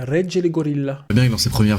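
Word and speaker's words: Regele Gorila: Mais la vraie prononciation, c'est Regge le Gorilla. Bon, on voit Comme je disais au début, un peu comme en italien. C'est une intonation italienne. Regge le Gorilla.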